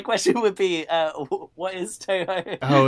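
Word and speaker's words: Touhou: There's a U after those two O's. After each of those O's follows a U, so it's more like Toho.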